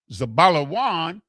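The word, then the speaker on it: Zebulun: The next brother, Zabalawan, exalted Leah, the Za, the Ba, the La, the Wa, and the Na. Zabalawan. Zabalawan exalted.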